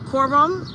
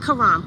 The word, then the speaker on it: Christina Coron: Coron. Coron. That's how you say it. Coron. Christina Coron. That's how you say it. Not Karam. Coron. They said it in court.